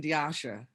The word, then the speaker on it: Diasha: The O is pronounced like a long A, and the I is silent. So that makes the correct pronunciation Diasha.